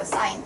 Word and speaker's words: sin: 그리고 얘를 이제 sign이라고 읽어요. sign.